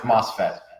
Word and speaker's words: MOSFET: Pronounced MOSFET.